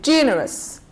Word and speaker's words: generous: we have two syllables adjective two syllables so we stress on the first syllable say generous generous then we have nationality